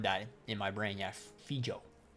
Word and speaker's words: Fejau: Yeah, Fejau. Fejau. I always pronounced it so fucking different in my head.